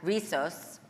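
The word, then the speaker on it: Rizos: um trailblazer in the hair care industry, founder of the viral curly hair brand, Risos.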